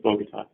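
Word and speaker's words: Bogotá: Michael tells me it's Bogota.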